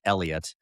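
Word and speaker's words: Heliot: It's it looks like it's spelled Helot and I guess it's pronounced Elliot.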